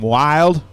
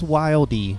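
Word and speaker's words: Wilde: Is that Wild? Wild? It's Wildy. Wow. Like the offhanded correction. It's Wildy. The E has an accent mark on it. Therefore, you pronounce it.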